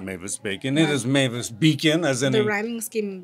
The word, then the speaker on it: Mavis Beacon: I'm sure a lot of people are saying Mavis Bacon. It is not Mavis Bacon. Yeah. It is Mavis Beacon, as in the rhyming scheme really helping correct people's pronunciation.